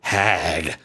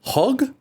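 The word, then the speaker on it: HÅG: capisco by hag now my white Michigan ass wants to pronounce it hag but I think it's hog hog hog 99% sure it's Swedish this is an ergonomic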